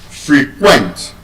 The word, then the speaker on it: frequent: As a verb, the word will be stressed on the second syllable. So, that is frequent.